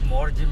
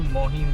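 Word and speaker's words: Morjim: stand-up comedy until today I've been pronouncing this place as more Jim Beach I thought that's how we pronounce it but Google here tells me something else check this out navigate to Morgan Beach navigating to my old age it says navigate to more hin beach now I don't know if I am wrong or Google is wrong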